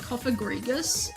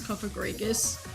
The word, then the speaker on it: Cofagrigus: sense or something like cofagrigus where because I'm not pronouncing it with the a I'm pronouncing it with an i I always forget that it's spell with an a like Dead s dude